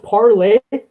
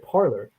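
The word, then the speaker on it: Parler: all i need yeah speaking is it pronounced parlay i've always pronounced it parlor it's pronounced parley but spelled parlor and that is hilarious i've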